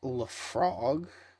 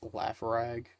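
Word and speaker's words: Laphroaig: uh and what is it it's uh it's pronounced Le frog when I read it though I read it as laugh rag just because it's what it looks like it's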